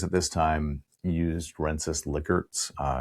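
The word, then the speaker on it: Likert: and the surveys at this time used Renis lickerts uh it's actually pronounced lickert not liker uh wensis licard's scale of strongly agree agree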